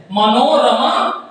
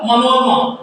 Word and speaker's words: मनोरमा: इसके दो उच्चारण हो सकते हैं, मनोरमा और मनोरमा। अगर हम रमा र पे जोड़ दे रहे हैं, र के साथ वाले अ का उच्चारण होगा तो यहाँ आर्य देंगे। अगर र के साथ वाले अ का उच्चारण नहीं होगा तो हम ए नहीं देते हैं।